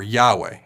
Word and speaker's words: Yahweh: intentionally replacing the Tetragrammaton yo hey Bob hey or Yahweh as we pronounce it anyone can look